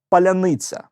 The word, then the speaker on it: паляниця: питанням То чому ж мордо ряни не здатні вимовити слова паляниця Невже реально щелипа російськомовна Чому вічно виходить Щось